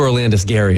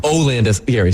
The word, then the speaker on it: Olandis Gary: I think when we got to Orlandis Gary is when you lost me. Olandis. Yeah, you even got his name wrong. Olandis Gary. Like Not Orlandis.